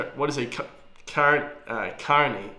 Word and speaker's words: Kearney: name of form of Kearney came from money golly what is he current uh Carney Carney Carney not Kearney the county of lay a move to the U.S in 1850.